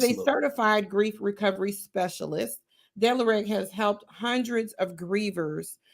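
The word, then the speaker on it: D'Lareg: Dillereg, did I pronounce it correctly?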